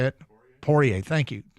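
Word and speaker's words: Poirier: poier porier por how do you say it porier thank you porier but the action doesn't stop there Deontay Wilder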